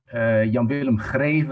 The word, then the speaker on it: Jan-Willem Greve: I think it's up to me to introduce to you Jan-Willem Greve. That's the way we pronounce it in the Netherlands.